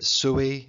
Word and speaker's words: Sui: a very brief Empire the Suey dynasty Sui at least that's what the lady on the youtubes tells me how to pronounce it anyway the Sui dynasty